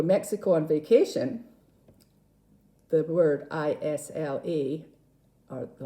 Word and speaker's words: Islay: We have an island off the west coast of Scotland called Isla, or Islay, some people say, because there is a Y on the end.